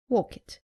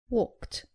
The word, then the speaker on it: walked: mistake saying help it it is helped saying walk it it is walked not cofed but coughed not ordered but ordered